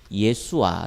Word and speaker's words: 여호수아: 목으로 말씀 증가했습니다 요 수와 라고 하죠 정확한 발음은 예 수 아 란 말이 많습니다 어 여호와의 구원 아씨 이런